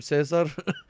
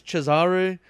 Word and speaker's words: Cesare: His name was Rodrigo Borgias, and he had a son, and for the longest time I've been calling him Cesar, but it turns out it's Cesare.